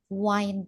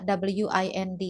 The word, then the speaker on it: wind: Sister, kok ini enggak dibaca win sih? Jadi untuk kosakata w i n d ini ada dua cara baca. Yang pertama adalah wind. Itu untuk angin, ya.